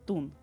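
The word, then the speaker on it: տուն: In Armenian, it sounds like tun.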